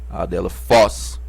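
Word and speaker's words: ἀδελφός: a dela Foz irmão percebam que o acento aqui tá em cima do omicron então nessa sílaba Foz que vamos pronunciar mais fortemente a dela Foz adelfós porque o acento tá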